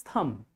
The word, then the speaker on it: thumb: This is thumb. That is thumbs up. Thumbs up, not thumb. Thumbs up. B is silent because B just come after M.